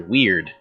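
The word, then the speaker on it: wyrd: It's your weird. Weird? That's how you're supposed to say it, yeah. It's spelled W-Y-R-D. It's word, which means it's weird.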